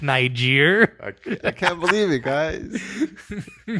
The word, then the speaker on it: Niger: Even I know how to spell it right. What about the country Niger? I didn't know it was Niger for the longest time until my cousin, that's like a bookworm, told me it was Niger.